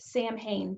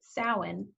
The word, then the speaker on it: Samhain: of what it looks like it should be pronounced samhain but it's actually pronounced samhain the ancient celts lived across the british isles